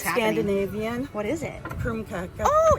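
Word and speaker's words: krumkake: So, it's How do you say it again? Krumkaka. Krumkaka. And it's Norwegian.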